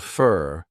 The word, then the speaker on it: for: keep your eyes peeled fur we talked about this before for becomes an unstressed reduced sound fur keep your eyes pealed